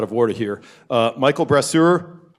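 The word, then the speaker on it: Brasseur: out of out of order here uh Michael brur pronouncing correctly oh very good um he is uh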